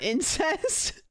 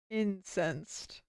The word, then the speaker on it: incensed: what does that mean that's not incest what is it no how do you okay no don't tell me what it means tell me how to pronounce it how do you pronounce it incensed oh incensed I seem to have misunderstood